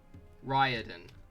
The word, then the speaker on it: Riordan: rick riordan author of all right that's wrong ryadan ugh yuck rick you've broken my heart anyway